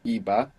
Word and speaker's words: iba: with an eye before in the past it's spelled with a b i b a EBA where in the present is spelled with a v v a but as we know they are very similar sounding so it's like the